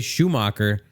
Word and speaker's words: Schumacher: and our newest David, I'm going to say Schumacher. It's spelled like shoemaker. Let me know if I'm saying that wrong.